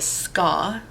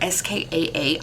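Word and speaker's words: skaa: his godhood and the ska or s-k-a-a i don't know that that's pronounced ska but that's how i pronounce it um they're a slave-like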